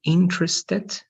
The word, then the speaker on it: interested: This is going to be interested, interested, right? And this interesting. So in both, the stress is in the first part and this with ed.